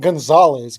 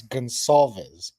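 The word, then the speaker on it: Goncalves: Gonzalez, Gonzalez, not Gonzalez, Gonsalves. Gonsalves. Yes, Okay, yeah, because I do Matt not know how to Matt pronounce it.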